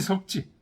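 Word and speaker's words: 射之: 화를 당겨 쏘거든 만궁이 석지 화를 만궁이 화를 당기는 겁니다 석진은 쏘는 거예요 사지라고 안 하고 석지라고 읽어요 그러면 바로 기수 체리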